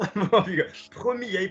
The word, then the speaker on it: premier: Premier, première, dernier, dernier. Listen to me. Petit. Male, female. Premier, we're not pronouncing the R on the end.